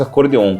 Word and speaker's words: acordeon: instrumento né no Brasil ele chama acordeão com a por causa da pronúncia de Portugal né então academicamente falando em geral se escreve acordeão eu prefiro muito mais acordeon com o que é a pronúncia espanhola né E que é